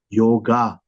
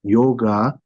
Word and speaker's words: yoga: They call it yoga. Actually, in the original Indian language, that is a small a. So the proper rendition of the letter yoga in like authentic Indian language is yog, not yoga.